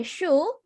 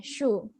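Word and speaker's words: şu: Kalau misalnya su yang air, kan pakainya S biasa. Kalau misalnya shu, itu pakai S yang ada ekornya. S yang ada ekornya, shu.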